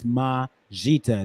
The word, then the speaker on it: Majita: It's Majita. That's how you say it.